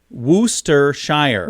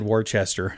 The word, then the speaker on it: Worcestershire: so by the way they say it's pronounced wooster shire worcestershire booster shire the staff wrote in a comment okay so i think i said warchester i don't know what